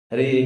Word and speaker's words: Hare: We also have to pronounce clearly. Hare Krishna, Krishna Krishna, Hare Hare. Not like here, kitty, kitty, kitty, kitty, here, kitty, kitty. It's like you're calling a cat or something.